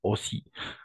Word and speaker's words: aussi: La combinaison de O et U, on va prononcer comme un O, c'est-à-dire aussi.